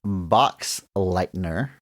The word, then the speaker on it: Boxleitner: Bruce Boxleitner, believe is how you pronounce the last name, plays Alan Bradley, another returning character from the original film.